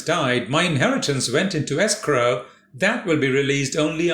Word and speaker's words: escrow: today's word is escrow two syllables the first syllable is dressed s escrow it's actually a bond